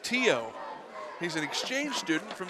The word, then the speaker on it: Theo: It's actually pronounced Tio.